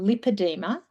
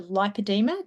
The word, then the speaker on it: lipoedema: interests me is that lipadeema Australia specifically changed the pronunciation of lipadeema from lipadema because doctors were calling it lympadeema and the names were too similar. So they deliberately changed their pronunciation of the word to lipadeema to make it different to lympadema.